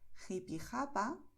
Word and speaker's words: Jipijapa: Por eso, en muchas zonas donde se habla el español, los nativos dirán Jalisco, Ojeda, Jipijapa, Tajo, Tajuña, Gerona, Gijón. ¿Ves? Es garganta, pero no estamos forzando.